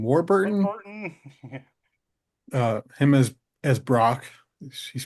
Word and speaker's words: Warburton: Warburton.